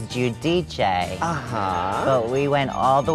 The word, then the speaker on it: Giudice: hard time with it well it was judaiz and then I realized it was judici but we went all